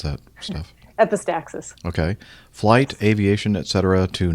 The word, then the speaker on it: epistaxis: phrases epistaxis or EP epistasis how do you pronounce that stuff epistaxis okay Flight Aviation Etc to no avail not